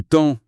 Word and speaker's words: temps: Pareil pour livre, où on entend plutôt livre, ou temps qui sonne teint.